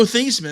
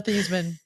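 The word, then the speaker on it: Theismann: know uh SME says worst pronunciation of Joe thyman I've ever heard this no it's not it's not his name is Joe theeman his name is Joe theeman changed they Notre Dame changed his name to thyman so it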